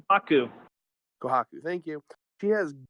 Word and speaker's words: Kohaku: I forgot how to pronounce her name. The main girl. The mean girl. The main M-I-M-A-I-N main. It's Kohaku.